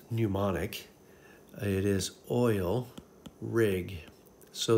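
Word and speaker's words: mnemonic: right here oil rig that knew not it's pronounced pneumonic it is oil rig so the o in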